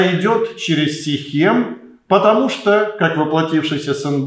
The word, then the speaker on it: Сихем: Но был и иной путь, который пролегал как раз через город Сихем, или другое произношение Шхем, древний город, который в этот период был населен самарянами.